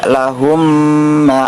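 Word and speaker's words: اللهم: dengan huruf mim maka cara membacanya harus dipanjangkan dua harokat Contohnya seperti Miss Allahumma Allahumma seperti itu jadi ditahan dulu dengan panjang dua harakat contoh selanjutnya ajrohum marotain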